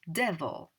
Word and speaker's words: devil: tricky tricky one because it looks like evil but it's pronounced devil all right um the